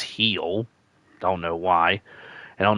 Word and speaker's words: Gil: It's spelled G-I-L, but it was pronounced Heel.